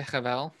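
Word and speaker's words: הבל: meaningless, or vapor, is habel. Did I do it? I would say Chavel, but Habel. You're good.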